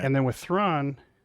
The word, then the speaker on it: Thrawn: In that instance, it was Khan. In this instance, it's Thrawn. Rhyme. Right, exactly. The Wrath of Thrawn. It rhymes. It's poetry.